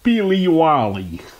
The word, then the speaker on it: Peelywally: amen paleo wally ipa definition scots pale pronounced billy wally ingredients barley wheat water